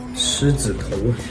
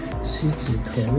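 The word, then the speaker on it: 狮子头: [T/N: Pork meatballs shaped to resemble a Chinese guardian lion's head] Shi zi tou (Mispronouncing the 'Sh' sound) Si zi tou What a big si zi tou~ [On my way to buy shi zi tou] This is...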